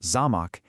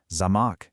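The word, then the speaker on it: замок: But with the stress on the first syllable, zamach, it means castle. Now, shift the stress to the second syllable, zamach, and it means lock.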